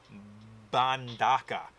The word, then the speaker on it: Mbandaka: It's not as easy as saying Wakanda, but it's got a lot of the same letters, but it's Mbandaka.